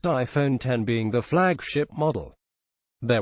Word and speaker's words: iPhone X: 8 plus with the iPhone X pronounced iPhone 10 being the flagship model